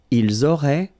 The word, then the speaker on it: ils auraient: And then look, if you've got A-I-E-N-T, then phonetically it goes like aurait.